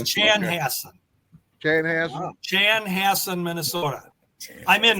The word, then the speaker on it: Chanhassen: It's Chan Hass. Chan Hass Minnesota.